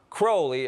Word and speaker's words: Crowley: Crowley in his own writings he said it's pronounced crowly it runs with Holy One Day in Cairo